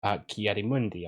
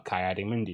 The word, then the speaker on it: Ki-Adi-Mundi: Sometimes, even though he's kind of a pain in the ass for it, Ki-Adi-Mundi or Kai-Adi-Mundi, depending on how you pronounce it, the same kind of, they very much go straight down the middle.